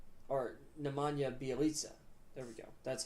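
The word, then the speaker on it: Nemanja Bjelica: really versatile team and they added nama or nemanja bialika or nemanja bialisa there we go that's how you say his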